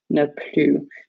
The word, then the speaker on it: ne plus: here you need to make sure that you know somewhere that this S is silent, ne plus. Because if you pronounce the S and say plus, it's the positive form, like to mean more, so you'll see soon.